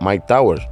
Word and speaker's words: Myke Towers: Pues su nombre proviene de una traducción de su nombre real, el cual es Michael Torres, al inglés, el cual se pronuncia Mike Towers.